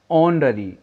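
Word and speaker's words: honorary: हम ओ से शुरू करें, आर, ऑनररी, ऑनररी, यानी प्रोनाउंसिएशन कहाँ से, ओ से आ रहा है, एच साइलेंट के रूप में लगा है।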